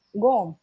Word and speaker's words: Gome: to pronounce them and they pronounce gom g-o-m-e so i was like